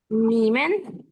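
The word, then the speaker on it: 你们: আচ্ছা, এইটাই জানতে চাচ্ছি, কারণ হ্যাঁ যে আমরা একটু আগে তো একটা করে হ্যাঁ, লেটার প্রোনাউন্সিয়েশন উচ্চারণটা হবে নিম্যান। নিমেন।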